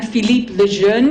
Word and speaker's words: Philippe Lejeune: Now, this man, Philippe Lejeune, is how his name is pronounced, and he's really the guru of autobiography.